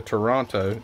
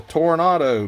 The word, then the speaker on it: Toronado: of the ozmobile toronto i was calling it a toronto in my video i am so shocked that i didn't get blasted with comments saying you're saying it wrong dummy it's a toronado but anyway there was